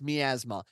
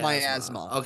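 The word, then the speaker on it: Miasma: I thought it was I thought it was pronounced M Asma it is not it is pronounced my asthma trust me I am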